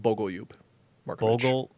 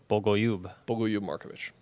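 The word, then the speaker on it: Bogoljub Marković: It's pronounced Bogolyub Markovic. Bogolyub? Bogolyub Markovic.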